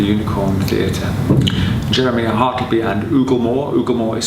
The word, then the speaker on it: Oooglemore: theater jeremy harkiby and ooglemore ugamore is spelt with three o's at the beginning so it's oogle more and jeremy it's actually